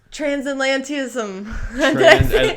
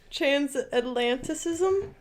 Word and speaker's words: Transatlanticism: Transatlantism. Transatlant. You got me with some Transatlanticism. Yes, there we go. Oh, I said it right? Yes. Oh, it's a miracle. Going across the Atlantic, so transatlanticism.